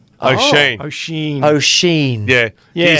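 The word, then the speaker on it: Oisín: O'Sheen. O'Sheen. Oisin.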